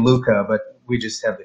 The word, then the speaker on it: LuQa: So I figured, why don't we change the K to a Q? And we just still pronounce it the same LuQa, but we just have the Q in there.